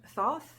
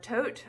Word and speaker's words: Thoth: to the Egyptian God Thoth or tote I think it's pronounced and that's at the